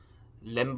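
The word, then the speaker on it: lamb: 오피는 거기서 비는 아 이 부금 처리가 돼서 발음이 안 된 데서 에어 2am 비하면 램 브가 아니라 m 도 아니고 들어요 으 특히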